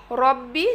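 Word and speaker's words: رَبِّي: তিনটি শব্দ পড়বো লি লামজের লি অর্থ জন্য রব্বি এখানে যেন রাব্বি না হয় খেয়াল করবেন রবাজবর রব বাজের বি রব্বি হরকতের উচ্চারণ তাড়াতাড়ি পড়তে হবে রব্বি রব্বি অর্থ হচ্ছে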